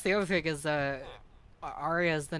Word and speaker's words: Arya: is a good name it's short but it has three syllables which is kind of